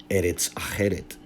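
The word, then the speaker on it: ארץ אחרת: transliteration of a Hebrew phrase which is now pronounced Eretz Acheret, which means another land.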